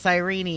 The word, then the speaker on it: Cyrene: I mean, Cyrene, I guess her name's pronounced Cyrene and I didn't realize.